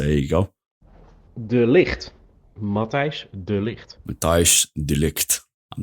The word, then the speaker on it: Matthijs de Ligt: my Dutch mate to give us the correct pronunciation of Matthias de Ligt. So here you go. De Ligt. Matthijs de Ligt.